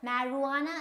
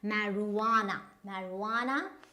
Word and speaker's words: marijuana: So it's marijuana, and not marijuana.